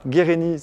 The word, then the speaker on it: Guerini: Guérini, ça s'écrit sans accent, c'est italien, c'est pas corse.